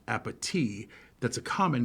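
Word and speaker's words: appétit: Tamala says to Angela, "Bon appetit," pronouncing it with a T. It's supposed to be pronounced appetit.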